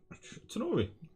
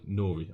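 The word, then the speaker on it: Tnori: Tanori, good evening. Oh, sorry, Nori. I forget. The T is silent.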